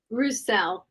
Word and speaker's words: Roussell: name to make sure I say it right rousel rousel with rousel perfectly holistic and I had